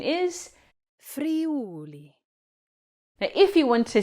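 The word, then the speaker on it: Friuli: Should you say fre or is it pronounced? Well, the correct pronunciation is free.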